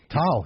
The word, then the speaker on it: Tal: Renkas, is it Tal? How you say I pronounce it? Tal, yeah, T-A-L, yeah.